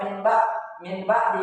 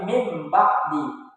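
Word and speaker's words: مِنْ بَعْدِ: Jadi jangan dibaca min ba'di, tapi mim ba'di. Bunyi n menjadi n.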